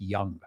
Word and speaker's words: Jung: So today we're going to be talking about Carl Jung. All right. Although it's spelled Jung, it's pronounced Young.